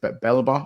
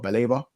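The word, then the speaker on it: Baleba: Is it Belba or Beleba? The young midfielder, the young center midfielder for them. I think it's Baliba, like Saliba, but yeah, like Baliba.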